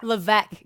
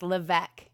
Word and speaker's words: Levesque: It's a difficult name to pronounce because it's very French Canadian. So, yeah. Levesque, guys. Levesque. Levesque. Okay, so that's a silent.